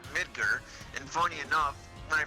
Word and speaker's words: Midgar: There's two different ways. There's Midgar, which is apparently the right way to say it, or Midgar.